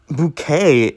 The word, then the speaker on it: bouquet: But bouquet has such a weird pronunciation. You're ignoring the T at the end. Normally, QU is qua, but now it's K.